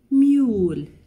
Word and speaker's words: mule: It has U in the middle and the silent E at the end of the word. Mule. Mule. It was the start of June.